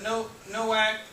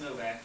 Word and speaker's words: Nowak: Rand, Martin Nowak, I think it's pronounced Novak, and Nicholas A.